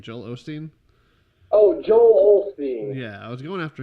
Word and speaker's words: Joel Osteen: Somebody commented, I was really going after Joel Osteen, or Austin. How do you say his name? Joel Osteen? Oh, Joel Osteen.